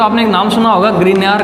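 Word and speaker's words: Grignard: तो ग्रीनियर नाम का साइंटिस्ट है जिसको GRI ग्रिग्नार्ड, इसका जो प्रोनाउंसिएशन है वो ग्रिग्नार्ड रिएजेंट।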